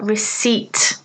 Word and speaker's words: receipt: you take cards and could I have a receipt please remember the silent p so some useful Expressions